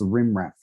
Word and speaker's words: rm -rf: Someone said that they heard the sudo rm-rf, they pronounce rimraf.